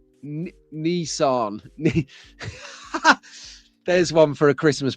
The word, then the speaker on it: Nissan: A Group C Nissan 390 or Nissan. So the Americans, they pronounce this Nissan.